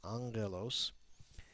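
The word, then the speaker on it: ἄγγελος: as an in so Angelos has two gas in it the first is pronounced like an N the second as a Gama on page three we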